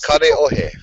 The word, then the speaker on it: Kaneohe: Every vowel in the Hawaiian alphabet only has one way to pronounce it. Not like the 7 different ways you can pronounce A in English, or A is ah, and A will always be ah. Cool. And everything is pronounced. There's no silent letters either.